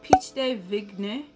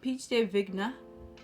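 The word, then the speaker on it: pêche de vigne: it also has pitch i think it's pronounced peach day vignette of peach day vigna it has silicone blood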